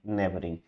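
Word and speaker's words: neighboring: इसमें डाउट आएगा ही देखो नेबरिंग में बहुत सारे आपको कॉन्सोनेंट दिख रहे हैं ना लेकिन प्रोनाउंसड क्या आ रहा है साउंड किसकी आ रही एक तो एन की आ रही है एक बीआर की आ रही है और एनजी की आ रही है नेबरिंग सही है और जैसा हमारा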